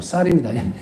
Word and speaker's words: 쌀: 그래서 이걸 뭐라고 표현을 앞에서 많이 말씀을 드리냐면 쌀은 쌀이에요. 살이 아니고 쌀입니다. 신학교 때이 경상도 사람들 쌀 발음이 안 난다 그 저 잘 되는데 쌀이 아니고 쌀이 쌀을 놔두고 있으면 쌀입니다.